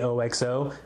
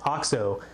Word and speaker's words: OXO: oxxo spelled oxo some people might actually say oxo it's actually pronounced ox 0 they're a company that makes tools to make